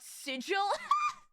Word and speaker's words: sigil: or like how Matt merer thought it was pronounced sigle and not sigil true I'm trying to think of like other